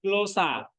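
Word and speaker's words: γλῶσσα: Nah, jadi ini bacanya glosa naik turun.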